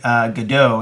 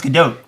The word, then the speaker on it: Gadot: I was talking to someone about it the other day, and someone said Gadot, and I said, no, it's Gadot. It's Gadot.